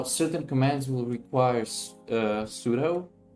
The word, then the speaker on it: sudo: commands will require uh sudo or sudo as some people we pronounce it which is probably correct because super user do sudo it sounds weird because most people say sudo but sudo is probably correct um so you can